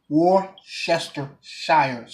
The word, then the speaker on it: Worcestershire: key ingredients hot sauce Worcestershire sauce is actually pronounced war Chester Cyrus sauce alright it's hard to